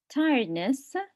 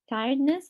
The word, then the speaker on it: tiredness: For the last word, tiredness, the stress is on the first syllable, and also in the adjective, the stress is on the first syllable. We say tiredness, the adjective, right?